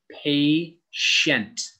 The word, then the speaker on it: patient: It is not patient, or you do not say the T like a T. It's patient. Patient.